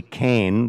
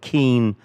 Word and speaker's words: Keane: new consul general rosie kane they say kane and galway and keane in cork and kerry and it's spelled the same way k-e-a-n-e there are where rosie comes